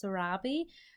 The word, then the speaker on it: Sarabi: I'm saying it right it's actually pronounced Sarabi so I'm sorry I've